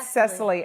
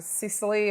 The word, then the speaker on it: Cecily: your name correct okay I said Cecily okay because when you look at it it looks almost looks like a Sicily or something like that so Cecily is a correct pronunciation and you know I